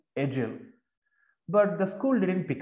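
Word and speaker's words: Edial: He tried to establish a school at Edgell, E-D-I-A-L, pronounced Edgell.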